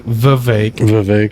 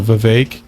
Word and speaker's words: Vivek: He says Vivek. And it rhymes with cake. Swami. So Vivek, cake.